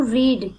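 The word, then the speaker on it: read: टू रीड that, देखो मैंने यहाँ पे इससे जस्ट ऊपर मैंने रेड इसको प्रोनाउंस किया था, यहाँ मैंने रीड किया है, क्योंकि जब भी हम हमारे साथ दो वर्ब होती हैं, यहाँ पे भी एक्साइटेड भी वर्ब है और रीड भी वर्ब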